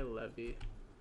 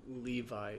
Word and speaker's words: Levi: will that be why Levy I guess why not after all Levi isn't spelled with two e's even though it sounds like it or it's pronounced like it has two E's okay um no looks